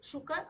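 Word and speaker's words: शुक: you have to say Shuka Shaka we have to say shukka Shak Shuka is a sage Shaka is a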